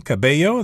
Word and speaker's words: Cabello: hour is Camila Cabello that's a Spanish name Camila Kibeho the ELLs there are pronounced as a yes sound in Spanish and that's her name